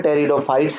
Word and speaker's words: Pteridophytes: इसमें जो पहला लेटर पी है ये साइलेंट है, इन्हें हम क्या पढ़ते हैं, टेरिडोफाइट्स हैं।